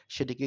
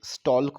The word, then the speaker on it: stalk: তারপর ফুলের যে বোঁটা, যেটার ওপর ফুলটি থাকে সেটিকে কি বলে, স্টক, STALK। এখানে কিন্তু এল এর উচ্চারণ সাইলেন্ট, স্টল্ক বলছি না, স্টক বলছি, কেমন।